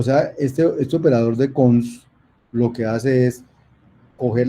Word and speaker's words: cons: Y el otro se construye con el constructor dos puntos, que se pronuncia cons.